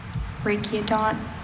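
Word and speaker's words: rachiodont: Yeah, that Latin uh hard C sound, hard K sound for the ch because it's Greek elements, but it was formed in new Latin, scientific Latin.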